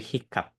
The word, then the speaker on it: hiccup: Tapi kalau hiccup, itu kita masih baca H-nya. Jadi nggak ikap, tapi hiccup.